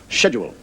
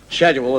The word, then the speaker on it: schedule: American regarding the word schedule and he said to me the word is not schedule is schedule s is SK not sh and I said well